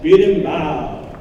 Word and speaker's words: berimbau: Yes, berimbau.